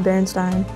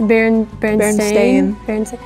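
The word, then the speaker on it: Berenstain: so The Berenstein Bears is actually spelled with an a it's not Berenstein it's Barron Stadium that's dumb it is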